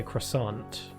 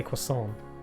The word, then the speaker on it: croissant: But in America, I think you just say croissant. You say it like how it's spelled, but most people in the UK say quason or quason. We don't pronounce the R or the T.